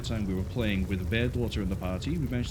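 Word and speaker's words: Bairdotr: down to potentially give him his voice back bear daughter here that is how the name is pronounced it is a p it is bear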